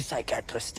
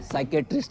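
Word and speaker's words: psychiatrist: भाई मैं फुल चौड़ में बोला आया हूं कि तू बहुत बड़ी साइकेटिस्ट है। साले तेरे को साइकेटिस्ट की स्पेलिंग भी पता है। साइकेट्रिस्ट है बहुत बड़ी। पी से शुरू होती है उसकी स्पेलिंग।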